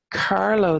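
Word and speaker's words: Carlow: a the the grove of cannot really um Carlo them so Carlo it comes from Carol lock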